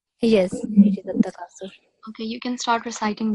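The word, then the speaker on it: At-Takathur: It's a Takathur, right? Yes, it is At-Takasur.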